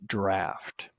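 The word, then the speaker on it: draught: a u g ght but always pronounced draft a draft beer is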